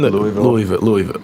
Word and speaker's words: Louisville: It's been Louisville. I say Louisville, but it's Louisville.